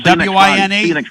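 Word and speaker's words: Wein: W-I-N-E. Is that W-I-N-E? W-E-I-N, but it's spelled. But they pronounce it Wine.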